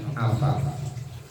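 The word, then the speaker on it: عفاف: Yang pertama al-afafu, afaf, menahan diri. Bifathil aini dengan menfathahkan huruf ain, jadi bacanya afaf.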